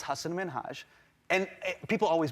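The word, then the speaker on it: Hasan Minhaj: please because everyone that says your name says hassan minaj yeah but the real way you pronounce it and this is a big deal because my parents are here it's hassan minhaj and people always mispronounce it they're always like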